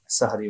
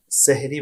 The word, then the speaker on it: সাহরি: গ্রহণ করা হয় তাকেই সাহারি বলা হয় উল্লেখ্য এখানে আমাদের বাংলাদেশে বিশেষ করে এই শব্দটা সেহরি বলা হয়ে থাকে যদিও আরবি শব্দ যেহেতু এটা আরবির মতই আমাদের উচ্চারণ করা উচিত সেজন্য শব্দটা হবে সাহারি সাহারি বা সোহুর এই